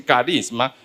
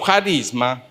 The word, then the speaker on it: charisma: Algunos dicen carisma, depende cómo se quiera pronunciar el ji. Carisma o charisma es una capacidad sobrenatural, extraordinaria.